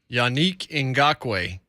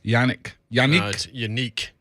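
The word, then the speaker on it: Yannick Ngakoue: they bleeped up unquote that's yanik in gaque that's how you pronounce his name yannick unique it's cool dude too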